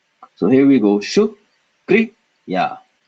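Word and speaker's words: शुक्रिया: So notice, if we didn't have it in the root form, we would pronounce it as shukariya, but because ra is a little carrot growing out of ka, we pronounce it shukriya.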